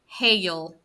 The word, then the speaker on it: hail: When you pronounce it, it's almost got a little bit of hail, como si le pusieran una Y, hail, pero muy rápido, very quick.